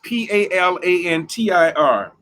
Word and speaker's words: Palantir: Palantir Technologies is Palantir.